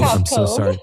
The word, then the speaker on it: Pavkov: Pav- Pavkov. See, I That's okay. Yeah, Breanna Pavkov. I'm so sorry. Pavkov Pavkov.